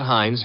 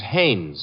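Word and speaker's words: Haines: Hines used to fish out no no not Hines Haynes couldn't be Huntingburg no it couldn't be the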